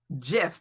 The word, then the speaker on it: GIF: It's pronounced GIF because the creators of it said it's GIF.